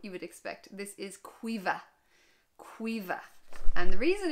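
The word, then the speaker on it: Caoimhe: This is Cuiva.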